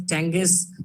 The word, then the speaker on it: Chang'e: So it's pronounced as Chang'e 4, or what it changes 4 moon lander.